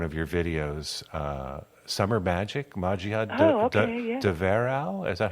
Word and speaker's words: Magia de Verão: to play one of your videos, Summer Magic, Magia de Verão. Is that how you pronounce it? Magia de Verão.